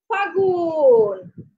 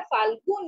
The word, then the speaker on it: ফাগুন: ফ আকার ফা, লয়ে গ, রসুকার দন্তন্য, কিন্তু আমরা উচ্চারণ করব, কিন্তু ফাগুন লটাকে আমরা উচ্চারণ করব না, আমরা ফাল্গুন বলবো না, আমরা ফাগুন বলবো, কেমন?